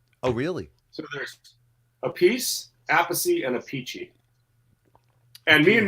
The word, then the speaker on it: Appice: Now, Carmine, there's Appice, and then his brother says his name. He pronounces his name. Vinny Appice. Why Yeah. is Vinny that? Appice. Yeah, why is that? And then they have another brother, and he says Appice.